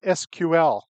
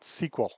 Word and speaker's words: SQL: notice I pronounce it SQL not SQL it is an initialism not an acronym otherwise the company had